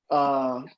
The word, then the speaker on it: kuso: Kuso. It's like kuso is how you say it.